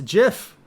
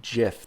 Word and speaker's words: GIF: images, but also some GIFs and video. But he does digital GIF. It's graphic. I don't care what it's a GIF. G stands for graphic. Why would it be GIF? That's a J sound.